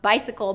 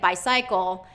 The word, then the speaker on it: bicycle: our Indian students is they were pronouncing it by cycle and that's normal for where they're from that's how people from where they're from are are saying it but in the U.S we stress it in a different way so